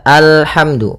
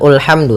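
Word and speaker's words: الحمد: Di sini kita baca alhamdu. Maka apabila ada alif lam di awal bacaan, maka a-nya dibaca dengan fathah. Alhamdu. Nah, di sini bukan ulhamdu tapi alhamdu.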